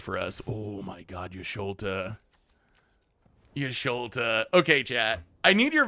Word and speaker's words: Y'shtola: To play Yashtola, I got to pronounce it correctly so you know what I'm talking about. The fun thing to do is play Y'shtola, double blink the Carnosaur, see what happens.